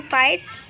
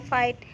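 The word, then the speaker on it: fight: अब जानते हैं कि कहाँ पे जी एच साइलेंट होता है। तो अगर शब्दों के बीच में जी एच आए तो वहाँ पे जी एच साइलेंट होता है। जैसे कि फाइट, तो देखिए यहाँ पे जी एच आया हुआ है, तो यहाँ पे जो जी एच है वो साइलेंट है, फाइट।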